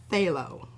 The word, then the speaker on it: phthalo: let's not see blue it's like phthalo i always want to pronounce the p yeah just about got